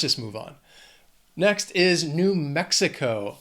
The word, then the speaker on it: New Mexico: Next is New Mexico. 4 syllables. Again, the stress is on that first syllable of the second word. New Mexico. Mexico. New Mexico.